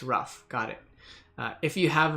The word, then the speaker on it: Ruf: to pronounce it online however my last name ruff from German people are kind of like go either way they flip a coin there ruff their there how do you